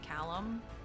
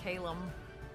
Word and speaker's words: Callum: Our second son, third child's name is Callum. And we really gave people too much credit on being able to pronounce it. He gets Calum a lot.